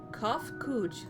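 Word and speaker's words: Cahciua: address my individual person i believe it will be pronounced cough cooch we have encountered beings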